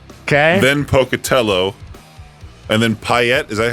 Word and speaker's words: Payette: And then Payette. Is that how you say it? Payette?